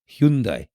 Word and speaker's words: Hyundai: supposed to pronounce uh what people say is Hyundai or H or Hundai or whatever it's actually Hundai okay just in case